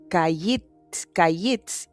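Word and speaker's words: קיץ: En hebreo hay algo así como una especie de un juego de palabras entre fruta de verano, que se pronuncia kayitz, y fin, que se pronuncia ketz.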